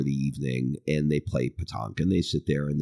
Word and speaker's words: pétanque: Well, France has something pretty much identical called pétanque, and it's spelled like nothing like it sounded. It's like pétanque.